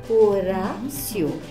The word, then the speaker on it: Horácio: Vocês viram como Horácio, careca, olha só como o som do R sozinho, quando inicia uma sílaba no meio da palavra, ele faz assim com a língua, Horácio. Então não sai aquele som forte da garganta, então Horácio.